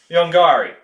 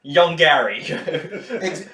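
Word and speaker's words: Yongary: conversations with things like yongari where it's so well yeah but definitely because no no no no no it's supposed to be pronounced yongari in the movie they just said young gary see my point so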